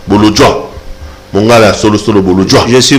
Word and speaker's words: Bolodjwa: On a prononcé bien? Bolodjoa. Bolodjoa.